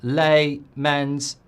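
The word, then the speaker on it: Lammens: The new keeper's name is pronounced with the stress on his first syllable. Lay, Men's.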